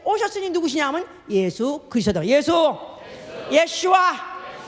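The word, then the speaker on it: ישוע: 누구냐면 예수 그리스도다 예수예수 예슈아 예 아주 원래 우리 본토 발음으로 하면 예슈아 성경의 원래 히브리 발음으로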